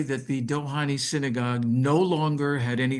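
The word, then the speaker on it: Dohány: So, in Hungary, there is a synagogue called the Dohani Synagogue. I don't know if you ever heard of it. Some people called it the Dohanei. The the pronunciation in Hungarian is the Dohani synagogue.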